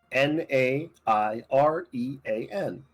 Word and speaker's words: Nyrian: Nairean. Almost like the second half of the plane's name of Kevil Nair.